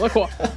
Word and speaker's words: Lacroix: How was that pronunciation? Lacroix? That was good, Rich? Yeah, Lacroix.